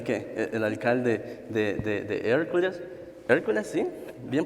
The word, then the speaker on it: Hercules: Hercules, sí, bien pronunciado, ¿eh?